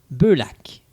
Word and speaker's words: Beullac: Beaulac. J'ai bien prononcé ça? C'est très bien prononcé.